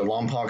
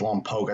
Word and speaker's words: Lompoc: yeah they went to lompoc high school i've also heard it pronounced along poke i think it's on poke high school and they skipped for